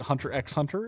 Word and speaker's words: Hunter x Hunter: Is it hunter x hunter? Is it hunter hunter? How do you say something like that? X. It's always X.